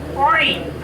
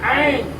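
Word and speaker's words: ع: এই অক্ষরটি উচ্চারিত হয় আইন আইন আগে আমরা উল্লেখ করেছি আইন এবং হা এটি হলকের তথা কন্ঠনালীর মাঝখান থেকে উচ্চারিত হয়। উচ্চারণ করার সময় কন্ঠটাকে একটু চিপা ধরতে হয়।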